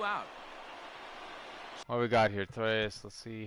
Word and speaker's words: Torres: Yeah, Tor Eyes. Oh, it's Mr. Tor Eyes. Substitute teacher pronunciation.